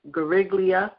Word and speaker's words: Guariglia: I'm going to say G, but I'll spell it Guariglia, Gariglia, a senior policy analyst